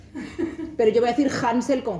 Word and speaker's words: Hänsel: Hansel, esa A se escribe con una diéresis, un signo ortográfico que en alemán se llama umlaut y que cambia la pronunciación de la vocal. De A se pronuncia E, con lo cual en realidad serían Hänsel y Gretel, aunque...